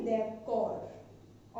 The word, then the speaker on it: d'accord: और यहाँ पे जो एंड का डी है वो साइलेंट रहेगा, ठीक है, जो एंड वाला ये डी है ना, ये यहाँ पे साइलेंट रहेगा, तो इसलिए इसको हम बोलेंगे देवकौर ओनली।